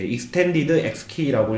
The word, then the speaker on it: EXT-X-KEY: 그래서 이제 extended xkey라고 읽으시면 되고요.